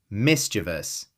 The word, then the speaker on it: mischievous: Mischievous. 3 syllables.